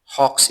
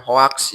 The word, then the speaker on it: hoax: Terus satu lagi ya, penyebutan hoa itu bukan hoaks ya. Ya, tapi ada beberapa orang yang memang menyebutkan hoaks. Sunda. Sebenarnya enggak disebut salah sih enggak tapi kurang tepat ya. Kalau secara pelafalan pelafalan yang benar ya dalam bahasa Inggris disebut dengan hoa gitu ya. Hoa gitu kan ya.